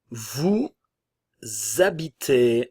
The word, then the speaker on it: vous habitez: Nous habitons, Vous habitez, encore une fois, le S, comme le H est muet, va former une liaison obligatoire. Esta liaison es obligatoria. Vous habitez, terminaison EZ avec le son E.